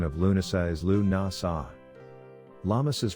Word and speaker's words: Lughnasadh: The pronunciation of Lughnasadh is Lughnasadh. Lammas's pronunciation is Lammis.